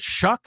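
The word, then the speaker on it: Shough: is a kind of is it s o u g h s h o u g h oh but it's called shuck shuck y all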